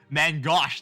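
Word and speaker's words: main-gauche: I can take, I'm gonna take a Mangoosh. How you freaking pronounce it? Mangosh? Parry. Mangosh, there it is.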